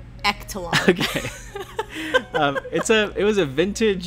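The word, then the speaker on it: Ektelon: I'm going to say Ectalon. I know sports, so it's pronounced Ectalon.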